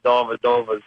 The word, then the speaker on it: Dellavedova: But I just find it kind of to be a little bit annoying that you say Dellavedova's name wrong. It's Dellavedova.